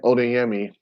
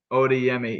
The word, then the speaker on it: Odayami: gonna botch it uh it's odayami oda yummy yeah see i would have i would have gone with an i at the end you would have